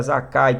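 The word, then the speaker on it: זכאי: Zakai no hebraico, se pronuncia Zakai, que vem do Zak, que literalmente significa puro, inocente, ou o que tem pureza.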